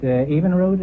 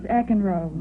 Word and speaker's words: Eckenroad: Evenrood, is that the way you pronounce it? No, it's Eckenroad.